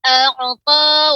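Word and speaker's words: أعطى: Fa amma man a'ta wattaqa. A'ta. Ya. Ainnya ya, pengucapannya a'ta.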